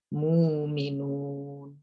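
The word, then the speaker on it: مؤمنون: dengan harakat huruf sebelumnya Kalau Mukminun karena rok atur sebelumnya bomma maka harusnya sukunya diganti Wow jadi Bacanya apa muminun muminun sedangkan ya'lamun karena huruf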